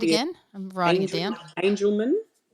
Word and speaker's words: Angelman: Angelman, like angel as in angel, and then man.